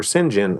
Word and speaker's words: St John: I was like yeah actually it's pronounced Oliver Sinjin now it's just oh